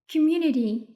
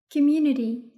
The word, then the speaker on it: community: As a native speaker, it is pronounced community. نلفظ الت د مخففة. Community.